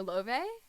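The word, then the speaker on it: Laufey: And also, I love the singer Love, or Lafe, or Leve, however you want to say it, but I believe she said her name is pronounced Love, so that's how I say it.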